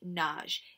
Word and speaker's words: Nagy: over there Khrushchev appoints a guy called imre nagy it looks like the word nuggie but it's pronounced Nagy okay now Nagy is a well